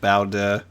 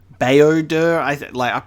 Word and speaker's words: Baodur: I love Bowder. Baodur, I pronounce it like bow because the word bow, but I think it's Baodur.